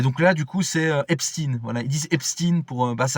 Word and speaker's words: Epstein: Alors qu'en réalité, ça se prononce plutôt Epstein. Donc Epstein plutôt comme Einstein. Voilà.